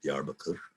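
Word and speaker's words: Diyarbakır: So if you look on a map of southeastern Turkey, the largest city down there is Diyarbakir, Diyarbakir. It looks like Diyarbakir, but it's pronounced Diyarbakir.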